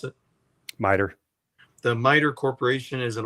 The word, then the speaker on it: MITRE: So the research I've been doing, there's a corporation called how would you pronounce this? MITRE? Yeah, MITRE.